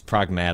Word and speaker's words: Pragmata: It's Pragmata. That's how they pronounce it in the game.